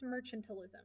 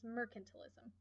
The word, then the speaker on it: mercantilism: l i s m m e r c a n t i l i s m it is not pronounced Merchant alism this is not about Merchants this is mercantilism mercantilism is the idea